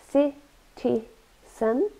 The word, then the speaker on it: citizen: Citizen, a noun, citizen, three syllables, and we stress the first one, citizen, and it's a person legally recognized as living in a particular town, city, or country.